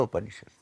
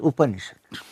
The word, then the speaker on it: Upanishad: So what is Upanishad? It has 3 syllables, Upa, Ni and Shad.